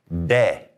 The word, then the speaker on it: de: And the D is called, you're probably guessing it already, de. Now, I want to go ahead and tell you, push that tongue forward a little bit. The D the Okay, we don't want to put our tongue back here on that ridge right behind our teeth that goes up because that's where we make the English D.